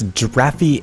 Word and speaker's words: giraffy: pronounce their name so I'm going to purposely say it really wrong giren derfin gir no it's giraffy 88 which is like d r a FF i e yeah it's kind